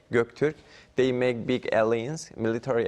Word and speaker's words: Göktürk: This is Korean pronunciation, but in Turkish pronunciation is Göktürk.